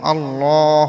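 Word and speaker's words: الله: এটা হচ্ছে আল্লাহ শব্দ আল্লাহ শব্দের উপরে যে তাসজিদ আছে তাসজিদের উপরে খাড়া জবর এই খাড়া জবরের ডান পাশে যদি জবর অথবা পেশ থাকে তাহলে ল উচ্চারণ হবে।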